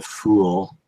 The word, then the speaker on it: Phule: But if you were so inclined to try and find me, I am the Fool on Twitters. It's spelled Phule.